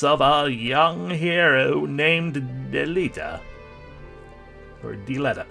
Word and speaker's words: Delita: It ended with the appearance of a young hero named Delita. Or Delita. Delita.